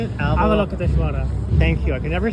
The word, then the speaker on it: Avalokiteshvara: Avalokiteshvara.